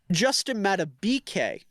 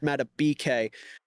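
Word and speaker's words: Justin Madubuike: Also, Justin Matabike. I've been informed. I've been saying his name wrong. Nope. Someone in my YouTube comments told me it's Meta BK.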